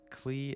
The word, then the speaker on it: Klee: everyone's favorite bomb specialist Klee has an interesting name because Klee and German would be pronounced clay and Clay translates to